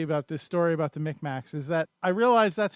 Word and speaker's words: Mi'kmaq: is mi see like like tic tacs with M's Micmacs but the the